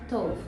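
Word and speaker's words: טוב: E essa pronúncia tov, se o som de O muito aberto, não é correto. O som tem que ser um som de um O forte, mas não aberto.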